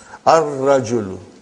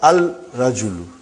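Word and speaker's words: الرجل: Ar-rajulu. Huh? The man. Huh? Not al-rajulu. Huh? It will be wrong to say al-rajulu. It will be ar-rajulu. We won't pronounce lam. Why? Because it is a sun letter.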